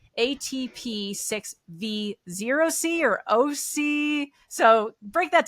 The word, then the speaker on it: ATP6V0C: I'm saying it right atp6v zc or OC so break that down for me a little bit correct me so written it's a zero um we tend to say o kind of like we